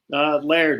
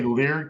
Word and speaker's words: Leard: Laird is the usual way I say Laird, it. okay, whatever. It's not too bad, I always say Leard because it rhymes with weird.